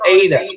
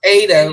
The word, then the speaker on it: eta: This is called eta. All right. The way I draw it is like this. Okay. Eta. It's like this is a vowel sound. It's like a long E as in obey.